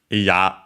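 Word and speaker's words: 嫌: Iya, the na adjective with accent on the last mora, which means disliking, not wanting, unwilling, by extension, so unpleasant, disagreeable, and so on.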